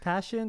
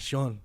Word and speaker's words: Pasion: to figure out oh so it's pronounced passion but it is just 1s it's easier to say it's not Shawn Shawn Shawn there you